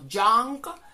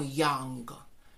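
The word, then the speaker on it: young: pronunciar y al igual tampoco vamos a pronunciar joven como yang sino como django y aunque el número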